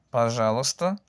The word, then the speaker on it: пожалуйста: Пожалуйста significa por favor. Se escribe пожалуйста, pero no se pronuncia así porque sea muy difícil. La gente dice simplemente пожалуйста.